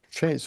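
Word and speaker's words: Chez: Shay's way. Yeah, Shay, because it's French.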